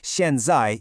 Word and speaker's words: 现在: Xiànzài uses two sharp falling fourth tones. Try saying it out loud with a sharp downward emphasis.